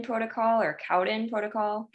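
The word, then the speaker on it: Cowden: he put me on the I believe it's pronounced codin protocol or Cowen protocol Cowen yes Cowen um and it it's the all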